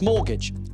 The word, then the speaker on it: mortgage: Jenny, what word for a housing loan has a silent T in the middle? Pass. It's mortgage.